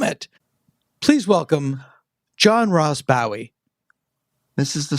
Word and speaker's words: Bowie: But whenever I step off the plane in England and I go to customs, they are always, hello, Mr. Bowie, welcome to the United Kingdom. They get it right immediately. Mm-hmm. And here it's always Bowie, unless I'm in the South, in which case they say Bowie.